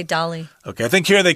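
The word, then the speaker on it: Dalí: one such famous person was the artist Salvador Dolly who designed their brightly colored daisy-shaped logo I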